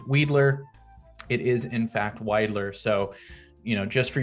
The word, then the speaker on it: Weidler: you have weidler and weidler street commonly gets mispronounced as weedler so yes weed is legal in oregon but no this street is not named weedler it is in fact wider so you know just for your reference if